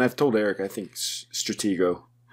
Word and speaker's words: Stratego: told eric i think stratego is that how you're supposed to say it yes certainly pronounce the board game i think that should